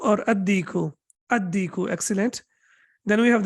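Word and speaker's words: الديك: How should I pronounce it? Any idea? Al-baytu, excellent. Okay, what about dik? Al-diku or ad-diku?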